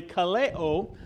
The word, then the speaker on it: Ka Leo: same word in Hawaiian spelled the same but pronounced slightly differently Kaleo which means the voice